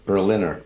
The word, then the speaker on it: Berliner: Berliner, like the city Berlin.